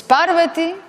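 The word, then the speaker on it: पार्वती: Por tanto, es Arjuna, Arjuna y no Arjuna. Arjuna. Es Asana y no Asana. Es Sarasvati y no Sarasvati, es Parvati y no Parvati, ¿vale? Es Arjuna, es Asana, Sarasvati, es Mandala, no Mandala. Entonces ya veis que hay una tendencia a acentuar en la tercera sílaba.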